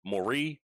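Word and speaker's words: Moris: Uh, he, a shot that he had was saved by Luxembourg's keeper, Anthony Morris, or I guess Mori if we're using a French pronunciation.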